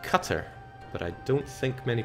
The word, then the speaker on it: Qatar: I do believe that Qatar is pronounced cutter but I don't think